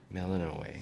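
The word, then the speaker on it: Melinoë: Melinoe. Scarce So that's how you born, pronounce only that.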